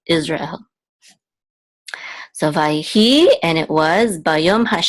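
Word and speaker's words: ישראל: syllable out says and you want to make sure that there's like a good real stop between the ra and El so it's not Israel this is of course Israel so if I he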